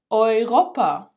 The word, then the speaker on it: Europa: They are both pronounced as oi, oi. For example, Europa, Europa, neu, neu, träumen, träumen.